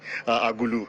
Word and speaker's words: Agulu: By the way, I had to do some rehearsal to make sure that I pronounce that name properly, Agulu, the hometown of the Labour Party presidential candidates.